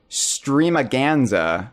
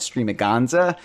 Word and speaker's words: Stream-A-Ganza: it wrong all day I've been calling it streaming Gonza and Jeff has been correcting me that it needs to rhyme with Tony Danza or else it's invalid